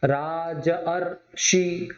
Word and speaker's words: राजर्षि: आया, आया बड़े आ के साथ में यदि ऋषि का ऋ यदि जुड़ता है तो अर में कन्वर्ट हो जाता है। राजधन ऋषि, राजर्षि, राजर्षि, अर का प्रोनाउंस आ रहा है राजर्षि।